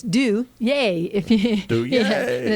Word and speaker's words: Duje: right now, and it's Duje. Duje. Yeah, and it's spelled D-U-J-E, which looks like Duge or like the John Wayne Duke.